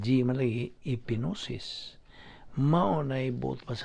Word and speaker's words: gnosis: gnosis EP IG in oh yes is humanely pronounced you're literally it's a pig nose espero silent Gimli EP gnosis my own a boat was about some metabolites